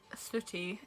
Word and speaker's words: Sooty: Sooty. Like the puppet, if you're English.